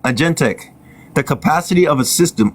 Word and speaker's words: agentic: over those of a A genetic? Agentic. You don't know, do you? I'm gonna look it up. It's pronounced agentic.